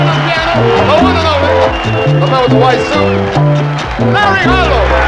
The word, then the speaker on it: Larry Harlow: gente no se puede hablar el nombre mío, Larry Harlow, es más gringo, tú sabes, muy gringo. No lo pronuncian pero bien. Dice Harry Harlow o Carlo Harlow, pero sabe el judío maravilloso.